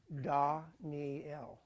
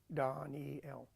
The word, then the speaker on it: Daniel: of Daniel all right Daniel is pronounced Danel Donnie L like Donnie l l is you know